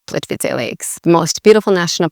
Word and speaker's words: Plitvice: It's really Plitvice. So Plitvice. So the C here is not like a hard C, and it sounds like a ts.